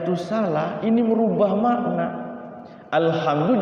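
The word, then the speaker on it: الحمد: Alhamdu jadi alkamdu atau alhamdu.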